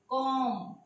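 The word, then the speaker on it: comb: इसी तरह से अगर एम के बाद बी आ जाता है तो ये बी साइलेंट हो जाएगा, कॉम, थम, लैम, बॉम, ये देखें ऐसे हो जाएगा, ये Baum, lamb, कॉम, B silent हो जाएगा।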